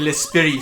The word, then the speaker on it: l'esprit: De l'esprit, sorry. The T is silent. The letter T doesn't exist in French, I'm sorry.